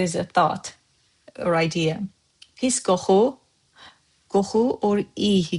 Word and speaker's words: PİS: Because in Master Azerbaijani word of the day, we have the word PİS. It's just PİS, one syllable.